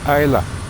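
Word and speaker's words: Islay: I Isa it's called I think if I'm right. I don't know. It could be Isa. It's a very It's spelled I S L A Y, but it's called ISA.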